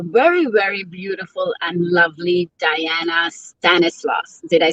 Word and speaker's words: Dayana Stanislaus: chat with our very very beautiful and lovely diana stanislaus did i say your name correctly i love it yes you pronounced it very well thank you so much